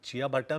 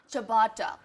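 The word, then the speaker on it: ciabatta: ऐसे आप प्रोनाउंस करोगे? अरे आई हैव ओनली बाजा जवार नाचनी रोटी, तो ये चिया बट्टा मेरे लिए कुछ बहुत ही एग्जॉटिक होगा।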